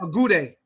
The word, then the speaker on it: Agude: Agude.